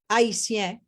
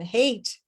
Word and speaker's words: Haiti: Haiti is the original pronunciation. Hate is what the European decided to pronounce it as.